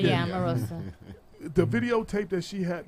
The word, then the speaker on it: Omarosa: Yeah, Omarosa.